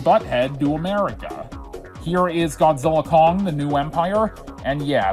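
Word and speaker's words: Godzilla x Kong: The X is silent, kinda like the X in the titles of Hunter x Hunter and Spy Family.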